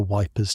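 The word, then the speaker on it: Ypres: Someone mentions the Wipers Times. a magazine put together by soldiers stationed near which everyone pronounces wipers because that's easier than the French way.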